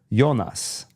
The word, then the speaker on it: Jonas: we were watching Dark there's a character yonas yeah Adam just said it yonas because the show is in German but it's spelled like Jonas and so I was